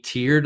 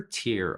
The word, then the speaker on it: tear: The beautiful song made her tear up. First, pronunciation. There are two versions of the first word. There is tear, which talks about the little drops of water in your eyes. There's also tear.